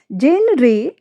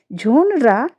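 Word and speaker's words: genre: जेन रे ये हमारा रॉन्ग प्रोनंसिएशन है। झोनरा एक शैली जो एक प्रकार होता है। ये हमारा राइट उच्चारण है।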